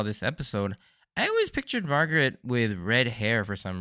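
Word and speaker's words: Marguerite: as both Margaret and margarite technically both I guess are correct but I always called her Margaret since that's how it's actually pronounced in Japanese like you read the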